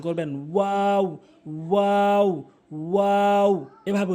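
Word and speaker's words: واو: এরপরে ওয়াও ওয়াও ভুল উচ্চারণ, ওয়াও ভুল উচ্চারণ, সঠিক উচ্চারণ হচ্ছে ওয়াও। মুখের খালি জায়গা হতে উচ্চারণ করবেন, ওয়াও ওয়াও ওয়াও এভাবে উচ্চারণ করবেন।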